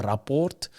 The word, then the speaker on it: Rapport: According to South Africa's newspaper, The Rapport, you have to say it like that, The Rapport, Eben Bongi and Pieter-Steph du Toit are the shortlisted players to fill that captaincy void versus Wales.